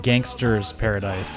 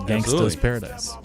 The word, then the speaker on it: Gangsta's Paradise: There was a trivia question or a Jeopardy question, and the guy got it wrong because he pronounced it Gangster's Paradise. And the judges came back and ruled him incorrect for not saying it Gangsta's Paradise.